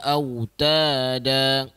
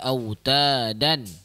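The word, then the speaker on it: أوتادا: Mad iwad ni cara bacaan dia adalah contoh wal jibala autada. Walaupun sepatutnya kita baca wal jibala autadan, tapi bila di hujung diwaqafkan kita panggil dia mad iwad.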